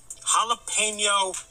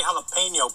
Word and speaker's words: jalapeño: jalapeno jalapeno I think whenever I say jalapeno people always comment you're saying it wrong jalapeno is that how you want me to say it one more look